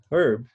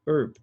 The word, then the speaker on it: herb: Por exemplo, para os britânicos a palavra herb, que que é erva, né? Eles vão usar o H e falar herb. E os americanos vão falar herb, sem o H.